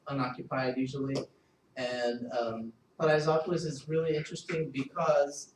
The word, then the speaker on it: Paraisópolis: But this section is not really ready, so it's we'll move on to my next research, which is it's pronounced Paraisópolis.